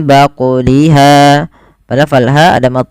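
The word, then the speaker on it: بقلها: Kemudian pada lafal baquliha ada bacaan qalqalah pada lafal huruf qaf yang disukunkan. Maka cara membacanya harus memantul dan tidak boleh menambah hamzah, yaitu mim baquliha.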